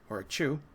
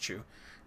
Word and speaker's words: que: This is a Chu. I think that's pronounced Chu, located at the tomb of Gao.